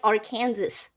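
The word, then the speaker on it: Arkansas: you'll get in trouble it has the s but it's it's silent it's like illinois like like our kansas illinois so you know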